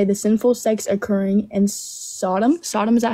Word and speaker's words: Sodom: gomorra do you know that story so it's pronounced Sodom not Sodom but let's see what you think that story